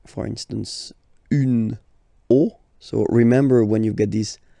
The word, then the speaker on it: os: here at the end, but then same rule, you don't pronounce it.